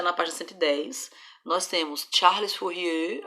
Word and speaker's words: Charles Fourier: parte 110 nós temos charles fourier aí você faz biquinho porque é francês né e nós temos